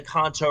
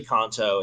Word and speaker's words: Kanto: Yeah, it's actually Kanto. It's not Kanto, but Yeah, whatever.